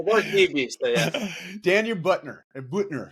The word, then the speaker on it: Buettner: that Buttner.